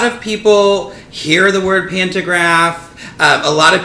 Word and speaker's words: pantograph: people hear the word pantograph a lot of people say it wrong and say pantagram whatever we all know